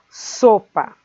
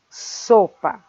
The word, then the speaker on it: sopa: Depois temos o exemplo da palavra sopa. Sopa. Sopa. A sílaba so é aquela que nós pronunciamos com mais força.